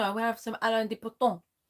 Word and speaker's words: Alain de Botton: No, I'm going to have some Alain de Botton. Alain de Botton. That's not how you say his name. Alain de Botton.